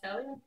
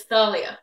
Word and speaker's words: Thalia: be there be swearing it's not pronounced Thalia it's Thalia okay well I read I read the book and I thought it was pronounced Talia so the way they